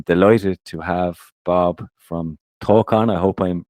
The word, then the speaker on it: Tawcan: I am delighted to have Bob from talk on I hope I'm pronouncing that right you can correct me but Bob welcome to the show yeah thanks for having me guys uh yeah it's pronounced talcan excellent my pronunciation can be a little bit